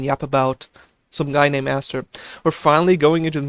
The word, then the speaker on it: Aster: Wait, it's Aster? No, it's not. It's Aster. You only pronounce it like its capital form when there's a vowel followed by a consonant followed by a vowel.